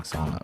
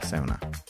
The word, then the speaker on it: sauna: We also learned that we've been saying sauna wrong this whole time. In Finland it's pronounced Sow-Na.